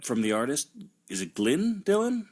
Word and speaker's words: Glyn: Would that be Glenn? I think it's Glyn because it's Glyn. Yeah, it's definitely how it's spelled. But I thought it was maybe like Welsh or something crazy, where it's like, hey, man, it looks like something, but it's just Glenn.